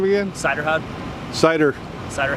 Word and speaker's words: Suyderhoud: how do you say your last name again cider houd cider cider H how cider how okay thank